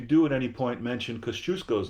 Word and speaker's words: Kosciuszko: The first syllable is cuz, like cousin. Second syllable is choose, like choose or lose. Right. So cuz, choose, co. Kosciuszko.